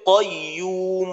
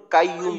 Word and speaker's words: قيوم: আচ্ছা সাইদুল ভাই, এখানে কফের উচ্চারণটা যদি আরেকটু শক্ত করে কয়ুম বলা যায় তাহলে আরো সুন্দর হবে, যেন কাইয়ুম ধরনের না হয়।